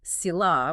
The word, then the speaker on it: Sila: We're looking at Sila, pronounced roughly Sila, which is moral conduct.